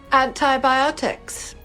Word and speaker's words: antibiotic: Antibiotics. Antibiotic. Don't worry. Mais qu'est-ce que vous prononcez?